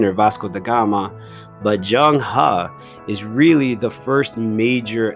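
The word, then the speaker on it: Zheng He: it says it looks like it should be pronounced Zhuang he but it's actually pronounced Jung ha I'll say that again Zhang ha and I'm sure you guys have heard of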